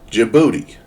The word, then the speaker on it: Djibouti: Oh, skip the D. Djibouti.